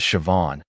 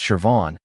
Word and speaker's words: Siobhan: Her name was Siobhan, pronounced Shuh-von, which took me a week to get right.